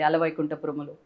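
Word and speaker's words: Ala Vaikunthapurramuloo: you said it right actually, Ala Vaikuntha Paramalu.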